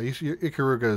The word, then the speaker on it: Ikaruga: Yeah, Ikaruga is pronouncing it right.